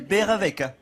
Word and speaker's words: Baerewecke: Oui, c'est beurre avec.